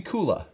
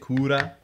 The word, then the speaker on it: Cooler: But in Japanese, do they not pronounce it Kula? Which also could be Cooler. It could have been Cooler or could have been Kula.